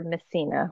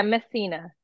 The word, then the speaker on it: Messina: that one more time my name is missina like mess me course I I knew I